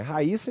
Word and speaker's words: Raíssa: agudo e também né Tem uma pronúncia diferente da de cima é Raíssa e o outro é Raissa vamos a diferença Olha só vamos notar a diferença veja que Raissa Raissa aqui é um ditongo são duas sílabas Raisa Raissa veja aqui